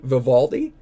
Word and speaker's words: Vivaldi: say this one, but I'm just going to spell it out. V I think it's Vivatti. Is that how you say it? Valdi, Vivaldi.